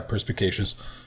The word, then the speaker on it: perspicacious: The man was so perspicacious. Is that how you pronounce it? Perspicacious? Yeah, perspicacious.